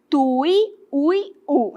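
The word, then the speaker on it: tuiuiú: Vou falar devagar que é para eu tentar pronunciar corretamente, tá? Tui, ui, u, é assim que a gente fala. E aí o que acontece? Nós temos aqui o U forte, está na posição oxítona, certo?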